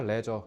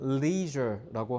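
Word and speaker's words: leisure: 레저. 너네가 아는 그 콩글리 레저. 근데 영어식 발음은 leure라고 하시면 돼요.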